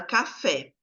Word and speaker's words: café: Então, no caso de café, a sílaba tônica é o fé, que até tem um acento, né.